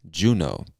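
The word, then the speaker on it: Juneau: alaska and the capital of this state is juno ju no juno alaska all right the next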